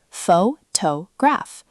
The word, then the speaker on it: photograph: Listen to this word, pho-to-graph. Native speakers say it like photograph. The stress falls on the to part, and that beat stays consistent.